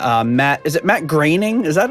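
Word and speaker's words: Groening: You know that one by Matt uh Matt is it Matt Graining? Is that like how you pronounce his name? Graining. It's not how you think you should pronounce it.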